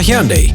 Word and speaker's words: Hyundai: Busca Hyundai reproduciendo no te confundas se pronuncia Hyundai y lo encuentras en